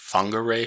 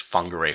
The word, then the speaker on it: Whangarei: I think it's pronounced whangarei falls again if you missed the last video this wh here is actually making sort of like the F sound so I think it's whangarei Falls this is a